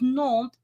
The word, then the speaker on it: Nantes: So it's Nantes, and you wouldn't pronounce the S unless the next word had a vowel or something like.